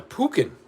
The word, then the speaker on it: pecan: How do you say pecan? Because if you don't say it the way I just said it, you're wrong. Yeah. What? Yeah. What the heck's a pukin?